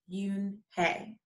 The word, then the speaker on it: Unhei: joey she nodded slowly yes it's pronounced yoon hey and it means grace